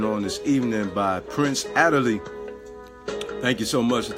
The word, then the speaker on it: Aderele: My name is Prince Aderele, originally from Nigeria, West Africa, from the Yoruba tribe.